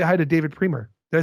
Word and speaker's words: Priemer: say hi to David Priemer. Did I say it right? You got it. Yeah, absolutely. You know, being Canadian, people want to Frenchify it for some reason.